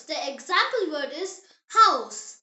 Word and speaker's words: Haus: In German, ha is always breathed out. It is never silent like in some English words. The example word is house.